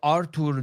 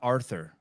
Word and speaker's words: Artur: So Artur, not Arthur.